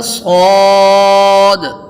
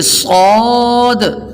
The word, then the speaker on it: صاد: تو جب ہم ہجے کر رہے ہوں تو احتیاط اس بات کی ہے کہ صاد کی ادائیگی کے وقت آخر میں دال سکون کے ساتھ ہے.